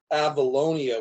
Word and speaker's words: Avalonia: before you were very heavily involved with the avalonia film festival how's uh is that happening again